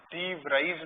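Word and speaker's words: de Vries: Number 2 है डी वेरीज method, डी व्राइज method भी बोल सकते हो, डी व्राइज मेथड।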